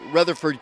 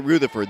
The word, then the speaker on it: Rutherford: It's spelled like we would say Rutherford County, but they pronounce it Rutherford. That's what Jim Freeman, their radio announcer and longtime Campbell Countyan, told me it's pronounced, so I'll go with that.